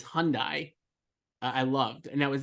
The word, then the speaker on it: Hyundai: was just like the way uh Roman says Hyundai I loved and that was that like yeah Hyundai I think you're pronouncing it improperly so I'm saying Hyundai yeah yeah it's Hyundai thank you sorry now that I'm assuming that